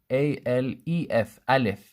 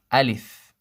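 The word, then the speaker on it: ألف: find it spelled sometimes a lef Aleph this is wrong it should be a leaf a leaf not la la LF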